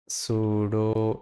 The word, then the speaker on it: pseudo: তো সুডো element সম্পর্কে যদি আরও জানতে চান তাহলে সার্চ দিয়ে ফেলবেন পি সুডো এলিমেন্ট আর কি। হ্যাঁ, পিটা উচ্চারণ হয় না, সুডো এলিমেন্ট।